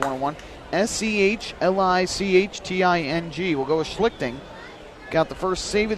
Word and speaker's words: Schlichting: to one and one and schlichting that's the correct pronunciation there's a called strike count 101. s-e-h-l-i-c-h-t-i-n-g we'll go with schlichting got the first save